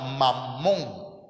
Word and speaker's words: Mamón: Y la Biblia habla de un Dios que se llama Mamón. ¿Sí? M-A-M-M-O, acento en la O.